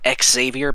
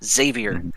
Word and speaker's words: Xavier: with Xavier for example x people say exavier because they say x we say xavier with a zavier so I say zumu